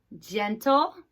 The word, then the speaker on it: gentle: They're all soft G's. Gentle Ginny works at the gym.